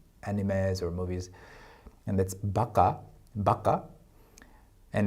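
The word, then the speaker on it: ばか: People saying 바가 incorrectly instead of the correct baka, the Japanese word for 바보, which is idiot, is not because of the emphasis of the insult.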